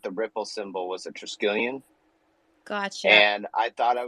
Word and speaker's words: Triskelion: Okay, I'm going to try my best to pronounce this. So Triskelion. Did I say that right? Yes, you said that. It's Triskelion. Triskelion.